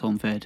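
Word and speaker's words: Honvéd: I think it's pronounced Honved.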